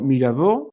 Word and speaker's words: Mirabeau: de eso hablaremos la semana que viene y veremos más más personajes como Mirabó, Mirabeau se escribe así, que era un tipo